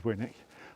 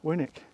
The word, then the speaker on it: Winwick: was crossing the field if you think of Warwick it's just w-a-r and wick on the end and we pronounce that Warwick so this has to be winick job done worked it